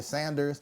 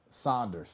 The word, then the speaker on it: Saunders: People be saying my last name is Saunders, but then I hear Sanders. Yeah. I'll be quick to say no. Saunders.